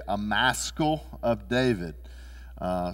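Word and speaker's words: Maschil: bibles may say a maskal of david uh some of them are are spelled m-a-s-k-i-l and some of your translations may spell it m-a-s-c-h-i-l but it's a maskal this is one of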